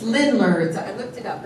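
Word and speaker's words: Ländler: It's Lindler.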